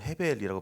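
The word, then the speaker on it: הבל: 전도서에서 말하는 헛됨 이건 헤벨이라고 발음하는데 수중기나 기 만개 이런 것들을 얘기합니다. 아무리 손으로 잡으려 해도 잡히지 않는 것을 헤벨이라고 얘기하는 것이죠.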